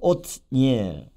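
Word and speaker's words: 옷니엘: 온니엘, 오츠니엘. 그래서 엘은 이제 엘로힘의 약자 하나님이 되겠고요. 오츠 힘 또는 전진 그런 뜻이죠. 그래서 온니엘 히브리어 발음은 오트니엘 뜻이죠.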